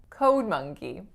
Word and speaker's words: code monkey: for a code monkey it's two words but listen and tell me which word is stronger code monkey the first write the sound that